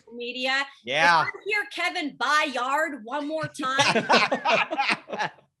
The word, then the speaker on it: Byard: kevin byard's name right media yeah here kevin bye yard one more time i mean come on